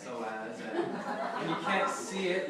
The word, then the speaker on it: psoas: Most people are not because it starts with a P, but it's pronounced psoas, and you can't see it.